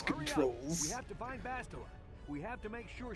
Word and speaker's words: Bastila: That was pronounced in the game. Bastila.